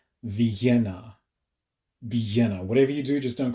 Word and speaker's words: Villena: the city of vienna with two ls in its name pronounced with a very heavy spanish accent vienna vienna whatever you do just don't call it velena the city of vienna